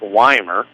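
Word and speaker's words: Wimer: wymer will step in so wymer we i m r pronounced wymer will step in and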